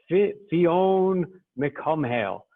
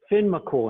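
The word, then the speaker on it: Fionn mac Cumhaill: the way it looks fionn mccomb hale but gaelic is almost never pronounced the way it's spelled and it's just simply pronounced like this tin mccool finn mccool and how how cool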